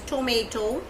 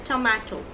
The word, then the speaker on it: tomato: In British English it is pronounced as tomato, and in American it is pronounced as tomato. Tomato and tomato. Mato. It's mato at last.